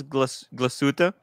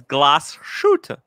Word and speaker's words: Glashütte: By the way, he taught me how to pronounce Glashütte. Right. It's Glashütte.